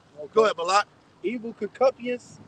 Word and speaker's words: concupiscence: Evil concupiscence.